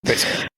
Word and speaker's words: Basinger: I don't know how you pronounce her name. Basinger.